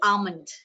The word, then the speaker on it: almond: almond for us but the right pronunciation is actually almond l is silent right almond correct so